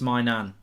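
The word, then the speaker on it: Maignan: job again good keeper Manion if that's how you say it foreign score a football goal get get us excited Mark it's genuinely pronounced my nan okay I'm gonna put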